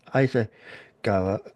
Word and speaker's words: Issaquah: And he's originally from, and this is me reading it because it's cut off, Issaquah, well, I believe that's pronounced, Washington.